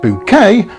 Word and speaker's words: Bucket: Yes, Hyacinth Bucket, pronounced bouquet, has departed, leaving behind a perfectly laid table for one last candlelight supper.